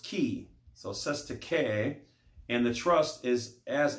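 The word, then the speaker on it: cestui que: 2 is pronounced sete with an accent on the first syllable k is pronounced key so says to k and the trust is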